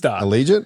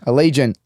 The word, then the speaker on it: Allegiant: will be a little how do you say that Stadium I think elegant Ali giant Stadium I can't even say but it's in Las Vegas and we all want to be there Allegiant Allegiant Allegiance company I think